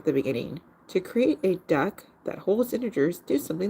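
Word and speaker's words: deque: 589 starting with stocking the DQ a DQ pronounced duck ah oh that's a duck my apologies I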